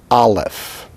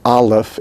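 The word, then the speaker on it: אלף: Therefore, understanding that, the letter Aleph is silent. We're not sure if the letter Aleph ever was pronounced, and if it was, what its pronunciation was.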